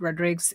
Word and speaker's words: Rodriguez: And then yeah and then I read Tony Rodrig's book, Tony Rodriguez's book or he pronounces it Rodrig's and he this was